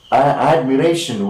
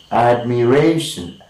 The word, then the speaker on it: admiration: Secondary is of course understood, but in a word like admiration with of course 4 syllables, we have to mark the secondary syllable as well, which is the next most important syllable, and we are marking it here. But it is admiration.